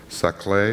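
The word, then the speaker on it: Saclay: post do in a bubble chamber group in saay is that how it's pronounced yes uh France using the same CDC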